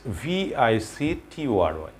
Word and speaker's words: victory: এই টোরিটাকে আমাদের খুব সংক্ষেপে নিয়ে আসতে হবে, অর্থাৎ ভিক্টরি, ভিক্টরি অর্থাৎ TRI, এটাকে এই TORI না প্রনাউন্স করে আমাদেরকে এখানে প্রনাউন্স করতে হবে ট্রি, ভিক্টরি, হিস্ট্রি।